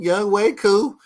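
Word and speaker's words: Younghoe Koo: See, I know how to say his name, Young Wei Koo.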